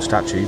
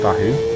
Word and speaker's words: Stahu: Well, everyone calls him Statue, but he's reliably told me it's pronounced Stahu. Very reliably, because it's his name.